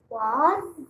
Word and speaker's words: was: We say whenever a word ends with S, a lot of times we hear a Z song at the end, especially when there's a vowel before the S. We hear Z, a song like Z.